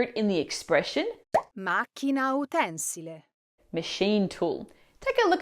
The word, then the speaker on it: utensile: you say utensile, utensile, Now the correct pronunciation here is utensile. Now when utensile is used as a noun, like a thing you use in the kitchen, Italians say utensile with the stress on the second to last syllable, just like the original Latin word utensilia. But when it works as an adjective, meaning serving a practical use, like a tool used in a factory, it's pronounced utensile, following the Latin utensilum.